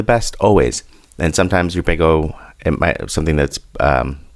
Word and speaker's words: Big O: Big O analysis pronounced big O, not big zero.